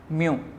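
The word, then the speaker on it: μ: Students ये sign जो है इसको हम वर्ड में प्रोनाउंस करते हैं म्यू।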